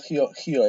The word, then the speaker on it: Rio: And And in the mountain, in the Rio Parnaíba, Hio actually, this is how they pronounce it.